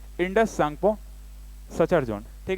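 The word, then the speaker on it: Tsangpo: सांगपो मतलब कि टी यहाँ लिखा हुआ है ना, टी साइलेंट रहता है, इसलिए हम क्या बोलते हैं, सांगपो बोलते हैं।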